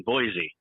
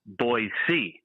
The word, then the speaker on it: Boise: up and I go it's so good to be in Boise and they go hey it's pronounced boyy and I go I